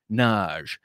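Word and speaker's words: Nagy: called up knowing that it's a hungarian name and that in hungary it's pronounced naj and so she uh she says there's mrs naj there and they're like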